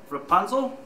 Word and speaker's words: Rapunzel: Legend are in even shorter Supply so it's pronounced Rapunzel correct very good some people struggle with my